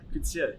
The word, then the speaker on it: Coetzee: Yeah, Coetzee.